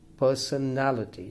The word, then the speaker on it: personality: again four-syllable word theft personality personality now this is a five-syllable word and the stress falls on the third syllable personality the last six